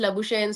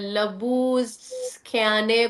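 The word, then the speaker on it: Labuschagne: अब जैसे मैं आज वो उनसे मिली हूँ, मार्नस लबुशेन से, तो वो मुझे पता चला कि उनके नाम की प्रोनाउंसिएशन लबुशेन नहीं है, इट्स लबूस्ख्याने कुछ इस तरह करके है।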